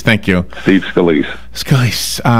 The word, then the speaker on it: Scalise: It's an honor, and our prayers to everybody up there, especially Congressman how do you pronounce his name? Scalise. Thank you. Steve Scalise.